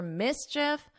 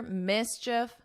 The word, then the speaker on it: mischief: And he was caught after mischief rampage. First, I want you to notice my pronunciation here. Mischief. Mischief. So here, you don't hear this E sound because we do have